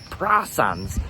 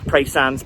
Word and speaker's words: Praa Sands: Some people do say Prasands. Some people pronounce it Prasand. uh both locals and like um non-locals. I'm not going to get into that debate. Pray sands. Prasands. I always say prays.